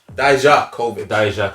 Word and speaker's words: Dijakovic: How do you pronounce his name? Dijakovic.